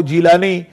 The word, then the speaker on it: جیلانی: شریف ہے، اس کی نسبت سے آپ کو جیلانی عربی تلفظ میں اور گیلانی فارسی تلفظ میں آپ